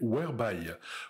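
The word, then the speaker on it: Whereby: moins connue mais qui fonctionne parfaitement bien c'est webyy Weby ça s'écrit W h e r e by y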